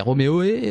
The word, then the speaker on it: Roméo et: sous le nom de Roméo et point d'interrogation on sait pas c'est comment ça se prononce c'est Roméo e ou Romo e Roméo e donc je vais juste